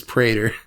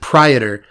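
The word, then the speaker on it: Praetor: tells me that you're supposed to pronounce this Prater I pronounced it Predator since I was 11 years old it's apparently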